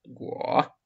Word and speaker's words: 国: Второй вот иероглиф произносится третьим тоном. Го.